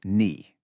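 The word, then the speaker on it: 你: Pronounced ni. It has that classic falling then rising third tone.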